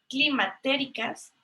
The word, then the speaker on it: climatérica: en dos clasificaciones: frutas climatéricas y frutas no climatéricas, ¿no? Entonces, así como se escucha climatérica, ¿no? Con acento en la I.